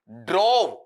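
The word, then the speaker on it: drove: ड्रव उच्चारण भी गलत मत करना। ड्रॉव नहीं होगा। क्या होगा? ड्रव।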